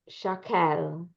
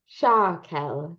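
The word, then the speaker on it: שָׁקֶל: Alafim Ba Araba Me'ot Shakel. Good. So this is the word shekel, but it gets a strange vowel under that shin. So how do you pronounce it with the stress right there? Shakel.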